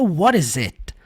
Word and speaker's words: What is it: falariam What is it o t ficaria com som de R numa junção seria What is it nós já analisamos frases